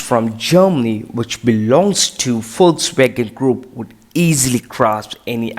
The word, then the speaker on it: Volkswagen: Most commonly and by mistakenly, some people say it as Volkswagen. But in English, it is rightly pronounced as Volkswagen. Yes, it's Volkswagen. But what in German? In German, it is said as Volkswagen.